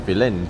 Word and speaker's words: Firenze: 其实他们发音叫做 Firenze，对啊，人